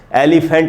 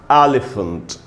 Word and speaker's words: elephant: एलिफेंट नहीं होगा दोस्तों, सही उच्चारण है एलिफेंट। ए पर रुकना है, ए पर स्ट्रेस है।